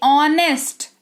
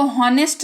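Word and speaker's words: honest: जैसे ऑनेस्ट इसको हॉनेस्ट नहीं बहुत कोई पढ़ते हैं ऑनेस्ट। उनकी गलती नहीं है क्योंकि उनको साइलेंट लेटर का रूल नहीं पता है। लेकिन आपको पता है आप इसको ऑनेस्ट नहीं। अब आप इसको ऑनेस्ट पढ़ोगे। इसको ऑनेस्ट पढ़ते हैं जिसका मतलब होता है ईमानदार।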